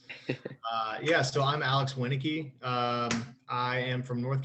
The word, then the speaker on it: Winnicki: worries uh polish names can be hard to pronounce uh yeah so i'm alex winike um i am from north carolina i'm currently